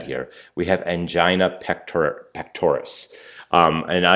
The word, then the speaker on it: pectoris: we have angina pectoris pectoris and now you will frequently mispronounce this and say pectoralis even though is it spelled pectoris and I'm sorry if I